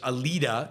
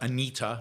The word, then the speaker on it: Alida: I've been told I'm pronouncing the actress's name wrong. It's Alida, not Anita.